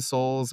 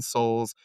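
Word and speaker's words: Sols: Have you heard of this game called Nine Souls on the Switch?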